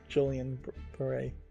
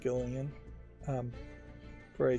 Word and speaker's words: Guillain-Barré: Her appearance here might heavily be due to Julian Beret. I think it's pronounced Gillian Beret syndrome, which I've heard more people either claiming to have it or having it.